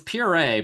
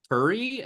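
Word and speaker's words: purée: cauliflower and PE REO it's pure but I wanted to note that he pronounces P like Purry and I was like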